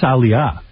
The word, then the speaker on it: Aaliyah: I think it's Aaliyah. Oh, please. Whatever. That's how it's spelled.